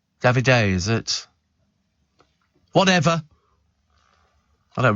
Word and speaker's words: Davide: And Val says, "My daughter told me David on Love Island is pronounced Davide." Davide, is it?